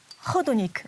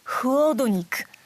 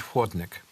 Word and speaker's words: chłodnik: sometimes I made hodonik instead of huodonik.